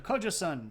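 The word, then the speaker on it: Gojoseon: The Kojoseon, and I know that's spelled with a G, but we all know that the G's and K's and things are roughly interchangeable. And the EU or EON here makes like a sound, so Kojoseon.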